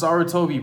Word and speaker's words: Sarutobi: How you not know how to pronounce Sarutobi, bro?